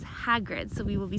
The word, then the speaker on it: Hagrid: I've been corrected because I normally say his name is hatred but my fiance mr. or gosh insisted that it is Hagrid so we will be